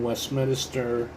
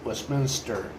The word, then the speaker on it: Westminster: will return to his town home located in Westminister or actually it's pronounced West Westminster Colorado and resume his job as a financial